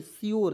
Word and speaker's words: sure: उसी प्रकार यहाँ आप देखेंगे सी यू आर ई, तो क्योर नहीं, श्योर, सी का उच्चारण यहाँ पे आधा स के रूप में, यू आर ई को योर के रूप में पढ़िएगा, तो क्या हो जाएगा दोस्तों, श्योर।